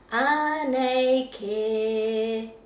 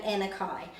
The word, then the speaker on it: Anei Kē: In the book it's pronounced Anei Kē, like that. So if we are listening to the song and singing the song and loving the book, we shouldn't really be saying Anei Kē.